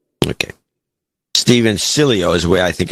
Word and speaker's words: Cilio: First off, it's Italian. Americans never get the pronunciation correct unless they have a Romance language background. Their correct pronunciation is like this. Cilio. Okay. Steven Cilio is the way I